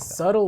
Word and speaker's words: subtle: of sub suddenly subtly how do you say that subtle well the B is silent yeah you can see